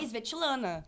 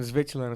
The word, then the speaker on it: Svetlana: É Svetlana. Svetlana. Entendeu? Alguém tem que ter... É assim que se pronuncia mesmo, Svetlana.